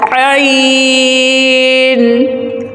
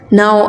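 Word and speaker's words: ع: Now I read and you try after me. Ayn. Ayn. My dear students, some people pronounce it N, so it's incorrect. The correct pronunciation is Ayn.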